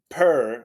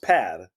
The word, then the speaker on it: Per: okay yeah good yeah my name doesn't work international perr but it's pronounced peir pear okay like the cat I'm used to be